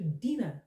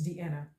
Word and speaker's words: Deanna: Message to Dina, please. It's Deanna.